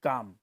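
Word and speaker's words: calm: फिर काम, उसमें एल जो है वो साइलेंट है, ठीक है, काम हम बोलते हैं तो एल ल वो है बोला नहीं जाता है।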